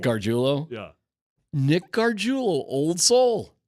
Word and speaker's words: Gargiulo: Oh, I'm saying it wrong, huh? I don't know. Yeah. No, you could be saying it right. Yeah, no. He said it the right way. I said it the wrong way.